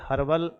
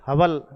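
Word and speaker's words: Hubble: माप की वह इकाई जो ब्रह्मांड के विस्तार की व्याख्या करती है, उसे कहते हैं, आप कहेंगे हर्बल नियतांक, सॉरी हबल नियतांक कहलाता है।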